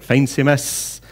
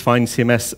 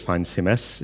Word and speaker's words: FeinCMS: is the originator of fine cms he's swiss speaks german so his pronunciation would be fine cms fine in german means